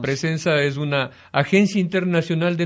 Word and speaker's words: Pressenza: presenza es una así se pronuncia así se pronuncia presenza es una agencia internacional de noticias que hace